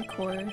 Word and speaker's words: coeur: I don't know how to say it in French. You'd hate saying in French. It's coeur. Coeur. A fair decor. Heart. It's just heart. It means heart. Oh. You can say core.